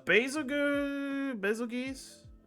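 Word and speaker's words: Bazelgeuse: fight I'm gonna put you up here a basil good that's how you say his name basil geese is an interesting Monster uh I like the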